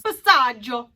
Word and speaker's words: passaggio: could i get my passagio with extra breadsticks please thank you now the real way to say it is passage but if i went around pronouncing everything in proper italian people would be like